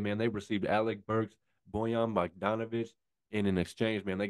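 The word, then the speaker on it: Bojan Bogdanović: Bojan Bogdanovic.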